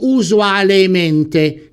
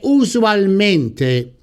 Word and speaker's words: usualmente: La forma corretta di questo avverbio è usualmente. Sentite che la pronuncia di usualmente scorre fluisce meno bene di usualmente e che quindi la corretta ortografia e soprattutto la corretta pronuncia di questo avverbio derivato deve essere usualmente, non c'è possibilità di errore.